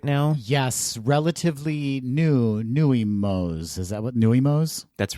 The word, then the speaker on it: Nuimos: that's going around right now yes relatively new nuimos is that what nuimos that's right that's i think that's how they're pronounced n-u-i-capital m-o i bought the stitch and